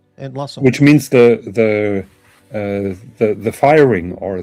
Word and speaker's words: Entlassung: How'd you pronounce that? Die Die Entlassung? Entlassung, Entlassung.